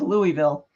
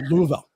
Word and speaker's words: Louisville: I thought it was Louisville anyways you have to that's a southern pronunciation you have to slur the words together so it's a Louisville go ahead um so